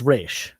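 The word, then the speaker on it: Ra's: Race or Raz? I say re. It's supposed to be pronounced re.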